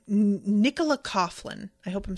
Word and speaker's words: Coughlan: Um Oh, Ashley says it's pronounced Coughlan.